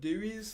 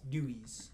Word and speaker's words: Dewey's: For those of you who aren't from around here, there's this phenomenal pizza place called Dewey's. Phenomenal. It is- Dewey? it- How do you spell that?